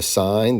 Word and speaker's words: sine: you to understand the sign ratio and that's how we pronounce that even though on the calculator it's spelled s i n they leave off the E this is called the